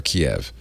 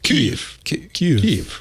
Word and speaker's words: Kyiv: the other, Kyiv or Kiev. I get it. No, Kyiv. No, you get to. We're in a position to educate people. Yeah, Should we? Okay, we should be the people who say it right.